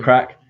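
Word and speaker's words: craic: llamas thanks he's a crack he's the epitome of a crack isn't it he's a good guy aaron he cracks me up so teach me a crack that's how you say c-r-a-i-c yeah that is it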